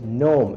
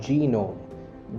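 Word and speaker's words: gnome: okay it's नोम एंड नॉट जीनोम जीनोम इज a medical term which is used for jeans but this is नॉट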